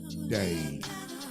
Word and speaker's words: Dane: You can follow me on IG _ Dane the Great _ It's DAIN, Dane spelled like rain.